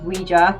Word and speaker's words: Ouija: with a ouija board often pronounced ouija boards which is wrong by the way it is ouija take notes and this